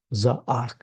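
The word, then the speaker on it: זעק: And so when we look at the root spelling of the word, which is the Zion, Ayin, and Kuf, it's pronounced Za'ak.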